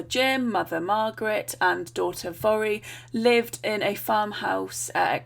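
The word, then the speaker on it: Voirrey: for manx girls and so it's Vari we say it vori now so thank you very much to my lovely monks friend there will for the proper pronunciation um some of the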